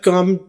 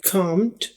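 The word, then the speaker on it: calm: बोला जाएगा आईव आईव कम down अब यह कामड ये सेकंड फॉर्म है सी ए एल एम अब यहां पर एल को प्रोनाउंस नहीं करते इसको काम बोलते हैं काम और ईडी के साथ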